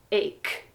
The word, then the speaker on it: ache: crazy it's crazy English many people think headache this should sound like H cuz there's a CH h no it sounds